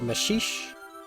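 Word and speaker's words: Maxixe: The blue one here is called Mashixe. That's spelled M-A-X-I-X-E. You could pronounce it the way you might instinctively with that, but it's awful. It's not wrong, it's just awful.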